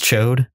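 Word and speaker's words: Ch'od: I love Chod. I love Rasa. I thought it was a little. The proper pronunciation is Chode.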